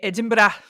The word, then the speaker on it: Edinburgh: It's spelled Edinburg, but in Scotland they say Edinburgh.